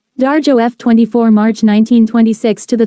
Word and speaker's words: Dario: considered a Marxist political farce it is a comedy about consumer backlash against high prices about the playwright Dario Luigi angelofo Italian pronunciation darjo f24 March 1926 to